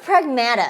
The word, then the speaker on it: Pragmata: It's pronounced Pragmata. Don't call it Pragmata. I didn't know that until Until the game told you a million times. Until yesterday. I was this many years old when I realized it was not pronounced Pragmata.